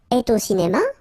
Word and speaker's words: y: possible to use this so e you pronounce it e okay so we and